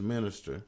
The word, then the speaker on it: Minista: the early part your first part of your name is minister right right but it's spelled different it's spelled m-i-n-i-s-t-a correct a minister correct and the last